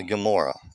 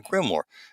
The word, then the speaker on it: Grimoire: No, it is a Gamorah. It's a Gamorah Grimor a Grimor let me just pronounce that right a Grimor.